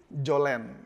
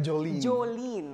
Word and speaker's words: Jolene: Kayak saya kemarin awalnya saya pikir bacanya Jolen, ternyata Jolin. Jolin. Ya, jadi E-nya dibaca I.